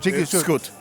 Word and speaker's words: Dziki Wschód: We see each other maybe in Wrocław again, and then we try the next super beer from Browar Dziki Wschód. Dziki Wschód. Dziki Wschód.